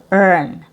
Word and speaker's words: earn: Uh same spelling long e eat and then with the letter r um earn.